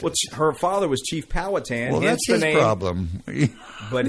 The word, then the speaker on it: Powhatan: How do you pronounce Powhatan or that? Town? Powhatan.